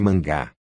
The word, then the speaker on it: manga: têm obviamente outros significados em japonês por exemplo manga pronuncia-se mangá é revista em quadrinhos